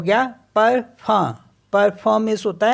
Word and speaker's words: parfum: Next word है PARFUM, तो ये हो गया परफम, परफम मीन्स होता है परफ्यूम।